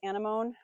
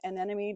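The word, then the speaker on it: anemone: A little Japanese anamone or an anemy depending on how you say it. Potato potato. I love this guy.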